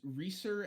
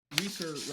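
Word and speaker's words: Risur: It's Reser, and Reser rhymes with Fleecer, and Rasuri rhymes with Missouri.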